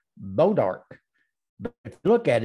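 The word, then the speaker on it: Bois D'Arc: little town about five miles from here called beaudark but if you look at it it's b.o.i.s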